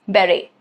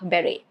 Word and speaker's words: beret: Next is beret, which is a round flat cap beret. Okay. Again, t is silent.